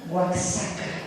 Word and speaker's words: Oaxaca: Todo el mundo sabía, todo el mundo decía un lugar rarísimo, se dice Oaxaca, ¿no? Y nadie lo sabía pronunciar, nadie sabía dónde estaba.